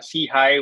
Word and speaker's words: SIHI: you on board uh see high which we pronounced as see hi stands for social Innovation